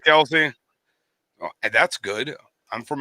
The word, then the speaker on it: Kelce: I just never know how to say his name dick else or Kelsey Kelsey I really believe that Kelsey oh that's good I'm